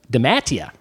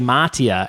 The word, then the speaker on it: DeMattia: I wanted to say Mattia, and then your brother here said, no, it's the long A, the Chicago A, which I'm used to doing.